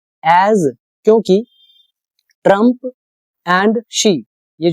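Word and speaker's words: Xi: एज क्योंकि Trump and शी यह जो दोनों प्रेसिडेंट है शी ये इसकी प्रोनाउंसिएशन होती है शी जिनपिंग तो ये दोनों ने क्या किया?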